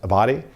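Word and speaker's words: Abbate: uh the one of the deputies for dire former director Ray Paul I believe is pron name is pronounced a body uh he was the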